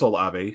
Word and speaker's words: Olave: we're watching behind me you still have Chris olave who's going to be a monster in which I finally pronounce his last name correct and outside of